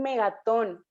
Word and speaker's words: megatón: Siempre quise saber cómo se dice megaton y es megatón.